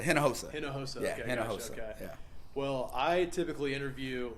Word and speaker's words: Hinojosa: say your last name it's a hen no HOSA hinojosa yeah well I typically